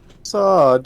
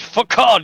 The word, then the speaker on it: facade: Can't even maintain a stoic facade. I thought this trial would be a perfect opportunity for you to redeem your previous embarrassments. Pronounced facade, you imbecile.